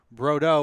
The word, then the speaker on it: Brodeaux: Her name is the name he has is Brodeaux, which is pronounced Bordeaux or Bordeaux.